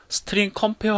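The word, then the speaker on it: strcmp: 자, 제가 먼저 이 함수를 좀 읽어보면은요, 저 같은 경우에는 이 함수를 스트링 컴페어 함수라고 읽습니다. 왜냐면은 이 CMP라는 것이 컴페어에서 따다가 만들어진 이름이거든요.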